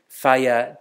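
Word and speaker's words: whaia: And by the way, WH is pronounced in Maori F, so Faya te tika, or doing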